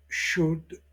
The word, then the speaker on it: should: Déjà dit dans la leçon 12, nous répétons que le L ne se prononce pas dans could, should, would.